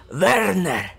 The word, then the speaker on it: Werner: Timo Werner. It's me. Now, I have reviewed him before, and apparently his name is pronounced Werner, not Werner, or is it Werner? Pretty sure the W is like a V.